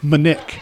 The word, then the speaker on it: Monique: The name is spelt Monique, but she pronounces it and likes it pronounced Monique. So the French pronunciation.